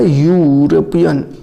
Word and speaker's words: European: ए क्यों भरा गया, यूरोपियन। ई तो है शुरू में लिखा हुआ वोवेल, तो वोवेल है लेकिन इसका प्रोनाउंसिएशन हो रहा है यूरोपियन, या तो यह वोवेल